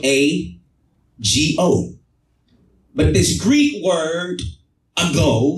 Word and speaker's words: ago: from Strong's Greek Lexicon g71 I go it is spelled a g o but this Greek word